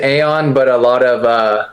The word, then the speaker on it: Ayon: So, I mean, most people pronounce it Aon, but a lot of uh of my Spanish teammates pronounce it Aion.